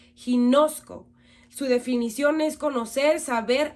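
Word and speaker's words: γινώσκω: Esta palabra es del Strong griego 1097 y se pronuncia ginosco.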